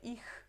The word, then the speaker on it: ich: E lembra que esse CH tem a pronúncia de como se fossem 2 R's, ok? É ich.